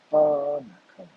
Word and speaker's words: barnacle: With the stress at the beginning, barnacle.